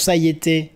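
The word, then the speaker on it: saietter: Alors ça se prononce saïeter, S-A-I-E-2-T-E-R, ou C-T, S-A-I-E-2-T-E-R, c'est un peu...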